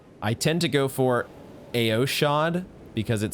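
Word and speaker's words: Eochaid: Okay, the next post says Eochade, as in first aid, Eochade.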